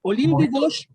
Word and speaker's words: Olympe de Gouges: Sí, se pronuncia en francés exactamente. Olympe de Gouges.